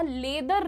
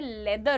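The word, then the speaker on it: leather: मैं बहुत छोटी थी जब मुझे मेरी मौसी और मामा ने बिठा के बताया था कि बेटा लेदर नहीं होता है। लेदर होता है।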